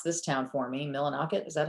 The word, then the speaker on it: Millinocket: Millinocket, is that how you pronounce it?